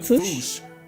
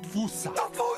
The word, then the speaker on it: fossa: Experts, feel free to correct me, but apparently that is the closest to the OG Malagasy pronunciation. It's just that the global game of telephone has Americans saying "fossa" while England pronounces it as "fossa".